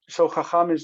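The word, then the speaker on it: חָכָם: Um so hakam is the absolute form. That is the the stress is here and the near syllable is long and then in this case it also lengthens the the last syllable.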